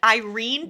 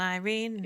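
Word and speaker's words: Yrene: r n yene infuriating Irene infuriating but it's pronounced Irene like come on Irene yeah that's e you dumbass it's come on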